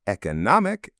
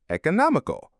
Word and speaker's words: economic: You can pronounce both words with either an e or an e sound at the beginning.